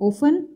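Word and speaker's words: often: इसकी बात करें तो इसमें एच साइलेंट होता है, इसको हम प्रोनाउंस करते हैं अवर, इसे हम प्रोनाउंस करते हैं ओफन। इसमें टी साइलेंट है, इसमें के साइलेंट है, इसको हम निट बोलते हैं।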